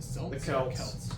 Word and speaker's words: Celtics: Um, next track is Death of the Is it Celtics? That's how it's supposed to be pronounced unlike the Boston Celtics who pronounce it differently for some reason.